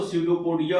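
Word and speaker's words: pseudopodia: झूठ के पैर इस तरह से यहां पर स्पेलिंग का देखिए आप तो सडोपोडिया हो गया, निमोनिया हो गया।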